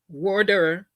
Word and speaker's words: voir dire: It was defense counsel's responsibility to conduct a meaningful voir dire, and that's the way it's pronounced. It's a a French word.